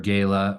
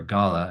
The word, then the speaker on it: gala: annual Earth law Gala um Andor Gayla or Gala I've learned they're all three correct pronunciations it's Thursday at